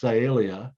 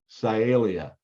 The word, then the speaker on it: Sialia: the same genus Calia all right so it's pronounced Calia can you repeat it with me sialia that's pretty good and so uh uh notice